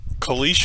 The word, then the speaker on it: caliche: So caliche is the proper way to pronounce that, and in Arizona, I'm not caliche.